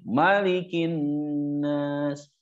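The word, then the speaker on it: مَلِكِ النَّاسِ: Nah itu kita perbaiki ya Maknya dibaca pendek malikin Nash baik balik lagi ke makna mulkiah tauhid mulkiyah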